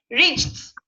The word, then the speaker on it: reached: Reached and stop there. Reached. Very light pronunciation of T.